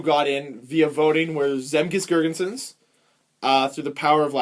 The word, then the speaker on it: Zemgus Girgensons: So the guys who got in via voting were Zemgus Girgensons, through the power of You're Latvia. saying it wrong. Zemgus Girgensons.